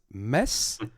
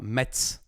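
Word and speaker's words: Metz: the city in France mess but they say it like in America Mets ah because in French I don't know why but we don't say the T it's mess but in America there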